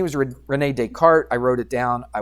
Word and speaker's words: Descartes: But it's not Descartes, it's just Descartes. The S is silent. So his name was Rene Descartes.